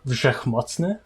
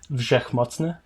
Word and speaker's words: Wszechmocny: pronounced Wszechmocny. Do it one more time. Wszechmocny.